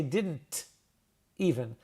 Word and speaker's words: didn't: And here I what I said I didn't even I didn't say didn't even. We call that the ghost T. As a native speaker, I hear the T.